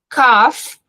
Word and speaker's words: cough: Cough, por mais que tenha um O, o GH ali, o som é cough, é um F, igual quando a gente